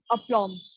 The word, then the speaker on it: aplomb: Moving forward, the word of the day is aplomb. Aplomb is pronounced as up and long as in long.